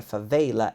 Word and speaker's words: favela: E a palavra favela existe em inglês com esta pronúncia, favela.